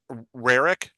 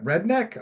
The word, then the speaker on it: Rarick: All right, I hit record and I am with WV uh Rarick.